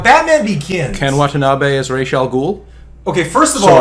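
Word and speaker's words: Ra's al Ghul: in Batman which is making the pronunciation of Roswell Ghul closer to the actual Arabic um because the whole racial goal thing that was created by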